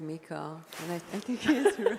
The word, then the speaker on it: MiCA: U.S actually corrected me I was I was saying Micah all the time and he's like I think it's pronounced Mika yeah it is especially if someone from the